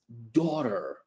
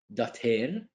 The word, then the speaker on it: daughter: So Jasmine is Maria's daughter. Jasmine is Maria's daughter. Repeat. Daughter, not dater. That is not English. When T is between two vowels, we pronounce it as daughter.